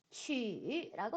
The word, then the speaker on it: 取: 자, Q 발음이 어떻게 됐었죠? 중국어로? GTC 발음에 치 발음이 됐었죠. 그래서 퀴역 발음이 아니라 치 발음이라는 거 기억해 두시고요. 여기에다가 우가 들어가나요? 아니면은 유가 들어가나요? 네, 찌치시 발음에 유가 결합하게 되면은요. 위에 있는 땡땡이 어떻게 된다 그랬어요? 사라진다 그랬어요. 그렇기 때문에 얘는 우가 아니라 유 발음이 되겠습니다. 자, 취라고 발음하고요.